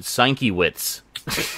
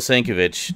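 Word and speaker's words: Sienkiewicz: sure I assume it's it looks German so I pronounce the W like a V I I used to pronounce it Stankiewicz so I'm pretty sure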